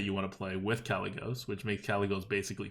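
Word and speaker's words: Kalecgos: want to play with Callie goes which makes Callie goes basically free oh you're actually pronounce it correctly now nice oh it's just Callie go so you don't pronounce the C it's like a soft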